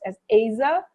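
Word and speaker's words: עזר: word helper is a hebrew word which is pronounced as asa the word asa means a helper who's in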